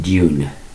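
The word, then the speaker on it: Dün: So I thought, the double dots could mean heavy U, so maybe they may pronounce it June, like a June, which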